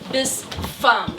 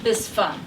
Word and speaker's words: Bispham: But you say Bispham, like fee fi fo fum Bispham. Bispham.